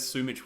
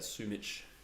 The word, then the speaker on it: Sumich: Now I think about it, Sumich is probably the correct pronunciation. I do say both, to be honest.